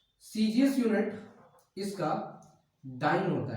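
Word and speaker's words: dyne: डाइन इसको आप pronounce करेंगे डाइन, नॉट डायन, डाइन।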